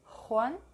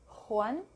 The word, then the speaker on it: Juan: J is the English H. Juan. It can also be given a slightly guttural sound. Juan, ojo, mujer.